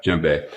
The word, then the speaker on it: djembe: And you're talking about your djembe. Is that how it's pronounced? The drum? Yeah, you got it exactly right. That's it. Right, djembe.